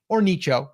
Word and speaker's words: niche: Number one, focus on a niche or nicho, however you want to say it. I say niche because it rhymes with riches are in the niches.